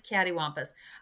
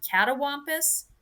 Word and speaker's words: cattywampus: i'm looking it up it is cattywampus i i was thinking my mom maybe pronounced it wrong and i was thinking it was really supposed to be catawompus but patty wampus is